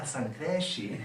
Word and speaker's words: San Cresci: And then ultimately he said, San Cresci.